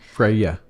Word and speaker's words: Freya: Freya.